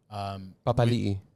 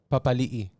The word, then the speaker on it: Papali'i: They used to say Papali, but then he came out and said it's Papali'i.